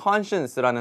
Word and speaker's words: conscience: 양심은 conscience라는 단어가 있거든요. 근데 이 conscience라는 단어를 보시면 저희가 발음 pronunciation 팁을 좀 드리자면 con하고 science가 있잖아요. 그래서 이 단어를 보시면 이거 conscience네 이렇게 읽으시면 절대로 안 됩니다.